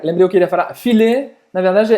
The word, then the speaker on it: filet: E a pronúncia é filet. Filet. Né? Porque a gente fala filé.